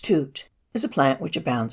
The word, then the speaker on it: tutu: life for some time tutu pronounced toot is a plant which